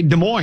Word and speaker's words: Des Moines: I say Des Moines. What's Des Moines, yeah. I you drop the S, Des Moines, and you drop the other S. So, it's not Des Moines, it's Des Moines.